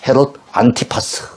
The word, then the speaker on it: 헤롯 안티파스: 헤롯 안디바. 예, 우리 라틴어로 정확히 발음한다면 헤롯 안티파스 그렇게 얘기할 수 있겠죠.